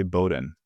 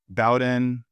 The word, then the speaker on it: Bowden: family members of ours, they all say Bowden. I guess we changed it at some point. It's a whole thing. We changed the pronunciation. So you're both are correct, I'd say. And you don't have a preference? I mean, I've heard both used. I mean, you could do Bowden.